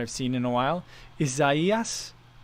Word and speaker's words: Isaias: seen in a while isaias like isaiah's but like izaias um but yeah i